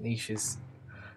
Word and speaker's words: niche: literal or figurative um i've also had it pronounced as niche but i think nisha's is the um it's the majority and not the niche pronunciation um let's continue i'll